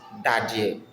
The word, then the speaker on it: Dadeɛ: In Nzema we call it Dadeɛ. Dadeɛ. And it is spelled as D A D E Dadeɛ.